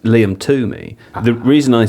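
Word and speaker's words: Liam Twomey: reporter who covers Chelsea for the Athletic, it's pronounced Liam Tumi.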